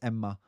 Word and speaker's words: Emma: Her name is Emma. That's how you say it in Finnish, not Emma.